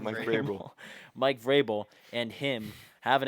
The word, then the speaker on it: Vrabel: Mike Vrabel.